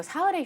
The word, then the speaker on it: 사흘: 곧 개봉을 하게 되는데요 아 이거 사흘의 휴가라고 읽어야 되는데 또 mg 세대들은 또